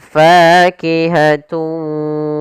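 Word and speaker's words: فَاكِهَةٌ: Cara membacanya yaitu suara tanwinnya kita masukkan langsung ke huruf wau dan kemudian kita tahan gunahnya. Maka fakihatullah fakihat. Nah, di sini juga kita namakan dengan idgham naqis yaitu idgam arti memasukkan dengan tidak sempurna. Ada yang kurang atau masih sedikit menyisakan suara nunnya. Maka fakihatun w nakhlu.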